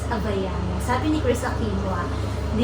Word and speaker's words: Havaianas: masasabi ko kagayan t saka guys ung tarang pronunciation pala ng habayanas habayanas sabi ni Chris Aquino hindi ang galing saakin